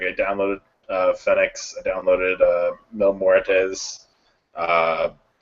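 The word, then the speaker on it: Fénix: Like I downloaded Fenix, I downloaded Mil Muertes. I already had Prince Puma. Phoenix, by the way, it's Phoenix. Phoenix, yeah.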